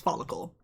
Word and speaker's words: Folykl: I decided that that's pronounced follicle.